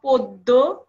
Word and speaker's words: পদ্য: রয়েছে আমি আবারো বলছি জ ফালা যুক্ত অধ্বনি উচ্চারিত হয় ও ধ্বনির মত যেমন পদ্য গদ্য মধ্য ইত্যাদি তাহলে আমরা এখানে যে